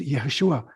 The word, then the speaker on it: Yeshua: So when you talk of Jesus, for instance, with a J, that's not his name. It's Yeshua with a Y.